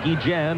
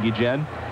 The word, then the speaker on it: Guillen: Before the game, Ozzie Guillen, and that is the proper way to pronounce his name, although he doesn't mind, as most people say Guillen, but you have brought me around, and now we're both saying Guillen.